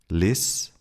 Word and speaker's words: Liste: Again, I'm going to split these words into syllables so you can see that the S and P or T do not belong to the same syllable and therefore need to be pronounced without the sh sound.